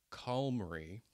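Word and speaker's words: QALMRI: part is write a point form and i pronounce this thing call mary q a l m r i write a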